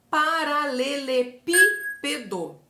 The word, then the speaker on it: paralelepípedo: Olha o exemplo paralelepípedo a palavra paralelepípedo tem como sílaba tônica como sílaba mais forte a antepenúltima sílaba porque a gente conta lá no final da palavra né então o do é a última o p é a penúltima e o pi que é a mais forte é a antepenúltima por